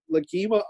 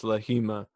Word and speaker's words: Lahima: Big shout out to Lagima Art. What's his actual name? I believe the G is silent. I believe it's Lahima.